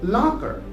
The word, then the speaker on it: locker: example is the word locker so locker is spelled as l o c k e r so c is also silent here one more example is